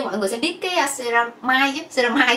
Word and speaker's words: ceramide: Thì như mọi người sẽ biết cái ceramide, Khanh hay đọc theo tiếng Việt của mình là ceramic, thì thực tế là mọi người sẽ hay đọc là ceramide á.